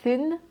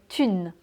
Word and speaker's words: thune: Mais celui que j'entends le plus, en tout cas moi, ça serait peut-être thune. La thune. On ne prononce pas le H, c'est pas thune, c'est la thune.